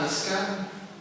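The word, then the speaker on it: משכן: Por eso ayer hablábamos de la choza del pastor, que es una palabra hebrea, ¿verdad?, que se pronuncia Mizkan, o que quiere decir tabernáculo.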